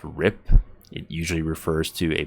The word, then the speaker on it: RIP: the derogatory use of rest in peace is pronounced rip it usually refers to